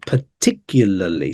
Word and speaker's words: particularly: same way particularly yeah the stress on the second syllable yeah that's right particularly so be careful with this first a because we have a schwar sound here P rather than having the a it's a uh instead yeah so watch out